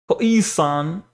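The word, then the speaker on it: Khoisan: See, they give you pronounced K O E san. Koisan.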